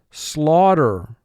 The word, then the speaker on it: slaughter: Slaughter. Slaughter. Our team will slaughter your team. Slaughter. 2 syllables. First syllable, slaw, 3 sounds.